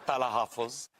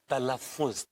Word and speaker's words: तलफ्फुज: It's not तालाहफुज, it's तलफ्फुज, तलफ्फुज।